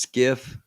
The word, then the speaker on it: SCIF: about gotcha um okay so skiff s-c-i-f pronounced skiff it is a sensitive